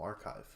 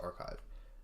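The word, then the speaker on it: arXiv: Oh, archive. Okay, so it's just archive.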